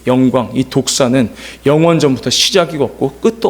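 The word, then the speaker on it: δόξα: 그것을 독사라고 해요. 독사. 그래서 독사라는 것을 발음으로 독사라고 이야기합니다.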